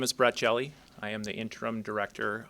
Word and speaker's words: Hjelle: My name is Brett Jelly.